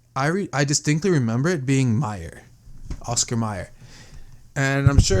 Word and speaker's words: Mayer: Now this one, Oscar Mayer, I mean, they pronounced Meyer, right?